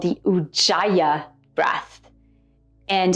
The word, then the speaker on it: Ujjayi: The breathing technique is called the UA breath and some people pronounce it Ujay UA.